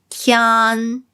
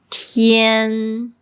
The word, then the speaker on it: tian: So this is not pronounced as tian. It's tian, tian.